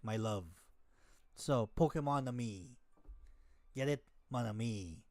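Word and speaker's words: Pokémon-Amie: Pokemon Ami or Pokemon Amy, way people pronounce it, like it's a pun for the French mon ami, like my love. So Pokemon Ami, get it, mon ami.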